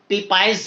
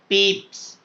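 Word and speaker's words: Pepys: Let's see what did पीप्स सी पीपाइस नहीं पढ़ना पीप्स। What इसकी pronunciation पीप्स पीप see when he went down to the water side.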